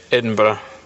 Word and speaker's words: Edinburgh: live near Edinburgh um I heard you pronounced it slightly differently um so it is said Edinburgh um after you got